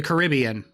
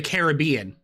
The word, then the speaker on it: Caribbean: these inter Well, what about car uh the Caribbean or the Caribbean? Cuz I pronounce it both ways. It just depends on the context. Like it's not Pirates of the Caribbean, it's Pirates of the Caribbean. But I'm going down to the Caribbean. Uh but I like Caribbean music, not Caribbean music.